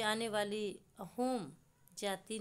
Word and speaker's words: असम: यहाँ के निवासी इसका उच्चारण अहोम ही करते हैं।